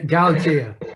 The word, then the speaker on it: Galatea: Recently, Eddie said that the one book he wished could be made into a film noir was Cain's, how do you pronounce that? Galatea.